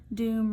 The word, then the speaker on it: doom: it gets an e doom runs if you pronounce it again in the right way supposed to rhyme with come so it gets an